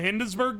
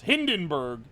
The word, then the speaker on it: Hindenburg: So that that's basically what happened in the Hindensburg disaster. Sorry, I said it wrong. What is it? There was a German in here earlier giving me for this. Hindenburg.